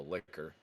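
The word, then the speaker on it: Licker: a special zombie called the liquor, which I'm going to be very careful on how I pronounce that. L I C K E R, like what you do with your tongue.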